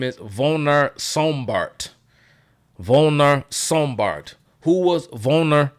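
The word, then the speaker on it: Werner Sombart: uh pronunciation I think they pronounced their W's with like a with like a like a V sound like like a um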